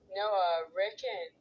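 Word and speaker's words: Noah Rickun: Starts with capital N O A H space capital R I C K U N. To be Noah Ricken.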